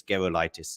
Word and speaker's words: Gerulaitis: Gerulaitis, by the way, it's a hard G because that name is, I think, Lithuanian, of Lithuanian descent, and a Lithuanian friend of mine said it's Gerulaitis.